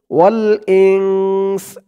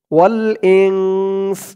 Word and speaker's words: والإنس: ওয়াল ইংস, এই চিহ্নতে থামার কারণে সিনের নিচে জেরটা সাকিন হয়ে যাবে, উচ্চারণ হবে ওয়াল ইংস, ওয়াল ইংস।